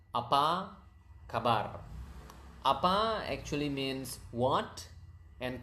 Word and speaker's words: apa kabar: It's apa kabar. Okay, apa kabar. That's how you say how are you. Apa kabar. So natural speed would be apa kabar.